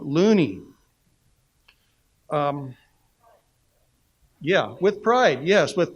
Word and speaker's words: Looney: in in recent publications so Lonnie is has been established for decades as the correct pronunciation in in the United States however Loney's grandson and his family Catherine sharp found out pronounced the name loony yeah with pride yes